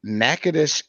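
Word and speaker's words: Natchitoches: more time no okay it's nakedish that is in louisiana it's nakadocious that's in texas hmm i thought you pronounced it natagocious now i'm gonna look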